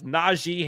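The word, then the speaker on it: Najee: Naji has publicly said his name is not pronounced n the G makes the long e sound and not the a noted he will forever now be known as Naji Harris Jake let's try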